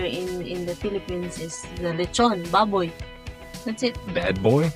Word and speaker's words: lechon: Lichin' Baboy? Lechon.